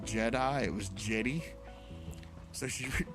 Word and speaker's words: Jedi: And I'm like, "The Order of the Jetty?" I said, "Honey, it's Jedi."